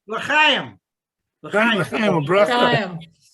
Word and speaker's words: L'chaim: L'chaim, bracha. Chaim. How do you say it? L'chaim. L'chaim. Say it again. Yeah. Get the chet. The chet. Talk that way.